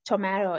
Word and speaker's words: tomato: of this world however tomato which rhymes with potato in most american accent is pronounced tomato in british english the